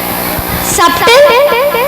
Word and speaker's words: subtle: Subtle. Subtle. Okay, let's see the answer. Okay. Then letter B, subtle. B is silent.